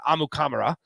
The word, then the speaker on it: Amukamara: draft pick since Prince Amukamara in 2011, or if you ask Prince himself, he pronounces it Amukamara, is how he pronounces his last name.